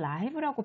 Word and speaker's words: live: 이때는 살아 있는인 거야 이때는 라이브라고 발음을 해야 해 이런 품사를 뭐라고 하지